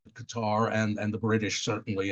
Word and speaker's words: Qatar: road to qar and people say why do you say qar and I said it Rhymes better it's just a better rhyming word and but it's true that everyone there called it Qatar and and the British